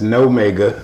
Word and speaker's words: Nomega: It's Nomega. Spell it for me. Yeah, like Omega, but with an N.